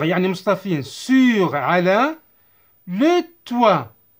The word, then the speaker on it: toit: Le toit. Le O, I se prononce wa.